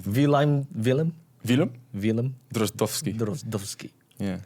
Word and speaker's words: Wilem: Wilhelm. Wilhelm. Yeah. Wilhelm. It's Wilhelm. Drozdowski. How do you say? How would you say it? Drozdowski. Drozdowski. You gotta say Willem.